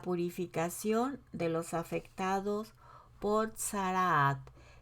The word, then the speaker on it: tzaraat: de los afectados por sarah se escribe tz tz doble a czr doble a y te sana casi no se suena casi no suenan todas las letras pero así se escribe para que muy bien